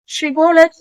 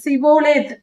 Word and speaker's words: ஷிபோலேத்: வருகிற யார் துறைமுகப்பட்டணத்திற்கு வந்தாலும் ஷிபோலத் என்று சொல் என்று சொல்வார்கள் ஷிபோலேத் என்றால் அந்த ஸ்ரீ என்ற உச்சரிப்பு எப்ராஹிமருக்கு சொல்ல வாயில் வராது அவர்களுக்கு சொல்லத் தெரியாது அவர்கள் சிபோலேத் என்று சொல்லுவார்கள் சிபோலேத் என்று சொல்லுவதினால் அந்த உச்சரிப்பு அவர்களுக்கு வராது இந்த காரியத்தை பயன்படுத்தி எப்தா